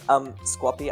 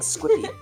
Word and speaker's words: Squappy: Also, I realized, Squappy, I've been saying your name wrong like this whole time. Yeah, it's like Squid Alien Puppy. Squappy. No, I've been saying Squippy.